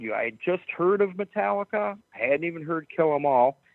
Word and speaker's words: Metallica: I go do you have any you have metal Lia that's how I pronounce it I couldn't even say the name he goes you mean Metallica yeah that's it he goes yeah dude here